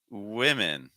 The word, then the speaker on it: women: have woman woman ww Then followed by women women which has more of a short eye sound so we have W versus we W woman women woman women hope that makes